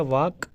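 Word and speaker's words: walk: तो पहला है वाक, इसमें भी है, क्योंकि अगर हम इसकी प्रोनाउंसिएशन देखेंगे तो WAK, ये भी वाक होता है, L इसमें साइलेंट होता है, ठीक है।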